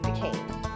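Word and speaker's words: Duquesne: called Fort Duan now this is a really tricky spelling because it's French so I'll write it down for you and spell it out loud Fort Duane is f o r t space Duane is Du u q u e n s e Fort decain now at the same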